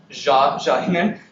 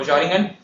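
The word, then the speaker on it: xaringan: I think it should be pronounced as Zaringen, like Xiaomi. So Zaringen.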